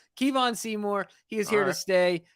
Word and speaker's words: Kevon Seymour: hit the scene he has Kevon Seymour not Kevin Seymour not kavan Seymour Kevon Seymour he is here to